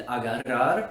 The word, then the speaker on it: agarrar: many many many others the other sound that corresponds to the r is the trilled or rolled r often represented by a double r in spanish orthography words that include this sound are korrer which means to ron and agarrar which means to grab and this sound is made in a similar fashion by putting your tongue against the roof of your mouth but instead of just